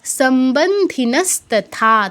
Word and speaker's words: সম্বন্ধিনস্তথা: সম্বন্ধিনস্তথা, থাতে দীর্ঘ হবে, সম্বন্ধিনস্তথা, থাতে দীর্ঘ।